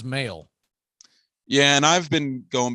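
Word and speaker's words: Mahle: an uh off air i have heard his name specifically pronounced three different ways on on national telecast i finally had to look it up and evidently he prefers mail yeah and i've been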